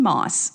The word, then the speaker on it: Mauss: Then I remembered there's a comedian that I follow named Shane Moss, Mauss, pronounced Moss.